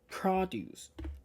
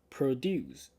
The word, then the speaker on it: produce: word produce listen again the first one fresh produce I'm putting my more sounds more stress in the first syllable and in the second word I say Pro produce I'm putting more strats and more sound on the second syllable so what is the